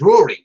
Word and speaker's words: Rory: It's pronounced Rory. Gaelic for Red King.